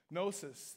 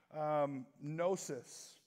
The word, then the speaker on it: gnosis: language is gnosis okay gnosis that starts with a silent G in case you're looking that up on your phone gnosis and this gnosis this